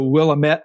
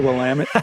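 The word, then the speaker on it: Willamette: are from and so it's the willamet River in Oregon not the wamit and that's okay you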